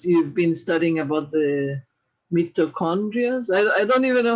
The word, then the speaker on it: mitochondria: more about what you've been studying about the mitochondria. I don't even know how to pronounce the name.